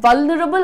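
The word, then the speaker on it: vulnerable: पर लिखा हुआ है, वल्नरेबल नहीं बोलना है, ठीक है। वल्नरेबल और वल्नरेबल बिल्कुल भी ना बोलें, लाइट रखिए प्रोनाउंसिएशन, वल न रबल, वल्नरेबल, वल्नरेबल, रबल बोल रही हूं ना मैं, वल्नरेबल नहीं बोल रही हूं।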